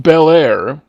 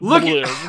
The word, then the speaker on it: Belair: I seriously, unless this is the new turn of Bianca Belair, which it's pronounced Belair, not Belair.